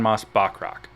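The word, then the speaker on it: Moss-Bachrach: Mas Ebach? Something like that. Yeah, the cousin from the bear. Oh, I Iban Mas Bachrach, Okay, not there it is.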